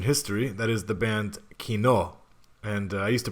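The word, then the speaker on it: Кино: that is the band Kino and I used to pronounce it Kino but I've been corrected so it's Kino yeah so today I like German it's like German Kino meaning movie theater yeah Cinema or cinema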